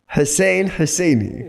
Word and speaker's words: Hussain Husaini: so at least my name is there yeah Hussain hussaini yeah Hussein husseini okay so h2h was the